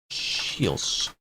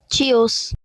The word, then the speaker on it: Chios: How to pronounce Chios. Turismo. Ah. A few other different ways of it being said. Alright, let's see what these voices think. Chios.